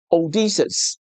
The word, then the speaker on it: 奧德修斯: 在希臘文中，它的發音是「奧德修斯」。但拉丁文譯本在結尾處加了 “-us” ，所以變成了 “Ulysses”，導致了這種音譯。